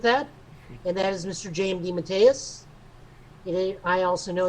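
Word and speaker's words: J. M. DeMatteis: i'm fine with that and that is mr jmd matthias i also know it's pronounced correctly because it says his name rhymes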